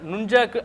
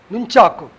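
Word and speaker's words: nunchaku: நாம் தொடர்ந்து கொண்டு வந்திருக்கிறோம் ஆனால் நூன் சாக்கு என் ஓ என் நூன் நூன் சாக்கு என்றுதான் அதை உச்சரிக்க வேண்டுமே ஒழிய நஞ்சாக்கு என்று உச்சரிக்க கூடாது. என்றால் நுங்கம்பாக்கம் எஜி நுங்குன் அதை நங்கு என்று கூறுவதில்லை. அதே மாதிரி இது நுஞ்சாக்கு என்றுதான் கூற வேண்டும ஒழிய நெஞ்சாக்கு என்று கிடையாது.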